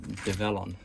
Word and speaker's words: DEVELON: on machines here develon devlon I'm not sure how to pronounce it the new name is a combination of the word development and onwards so if you go by that it should be develon but when you glance